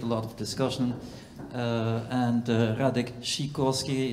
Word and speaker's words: Radek Sikorski: lot of discussion and radic shikorski it's the Polish pronunciation I I don't think